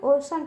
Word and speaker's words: ocean: अब देखिए बच्चों यहाँ पे सी के साथ EA है, ठीक है। तो उसका उच्चारण क्या निकलेगा? सी का श निकलेगा। क्या निकलेगा बच्चों? स निकलेगा, ठीक है। तो अब इसको क्या पढ़ेंगे बच्चों? ओशन पढ़ेंगे।